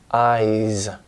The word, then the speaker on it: eyes: i voiced and so the S becomes a voiced eyes and he looked at